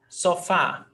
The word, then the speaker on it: sofá: Sofá. 2 syllables. Sofá. The stressed syllable is fá.